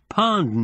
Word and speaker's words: pound: They used coarse mesh pond nets. That's spelled P-O-U-N-D. I never found out why it was pronounced the way it was.